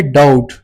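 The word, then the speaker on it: doubt: दूसरा हमारे पास है डाउट। इसमें हमारे पास बी साइलेंट है।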